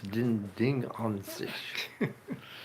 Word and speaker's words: Ding an sich: You know, the Germans pronounce summary. S sort of like TS or Z even, so it's ding an sich.